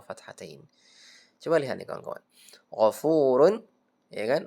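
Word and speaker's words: غفور: Gfurun ya kan? Gfurun dibaca gfur jangan disamakan dengan hakiman hakima jadi gfurun gfuru bukan gfurun gfur bacanya ya innallaha apa ee azizun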